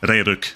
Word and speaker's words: Ragnarok: Ragnarok, there we go. Got the pronunciation out there, finally.